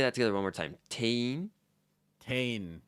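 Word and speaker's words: 店員: more time Tain tane I know it's like spelled like t-e-n-i-n but there's this like weird thing in Japanese where if you have like an um coming before an in then that like um gets thrown to the back and it's almost like you have a long e sound so instead of 10 in we say Tain o let's let's do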